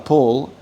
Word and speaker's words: Paul: Es una es un aspecto fino de la pronunciación del inglés que en ciertas posiciones, en principio de palabra palabra acentuada se pronuncia aspirado, que el el castellano nunca hace.